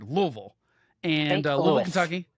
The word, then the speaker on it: Louisville: It's a 2-syllable word, Louisville.